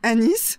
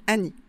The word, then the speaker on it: anis: Moi, je dis anis, si vous voulez savoir comment je prononce. Mais certaines personnes disent Annie. Je trouve que ça ressemble au prénom Annie, donc je préfère dire Anis.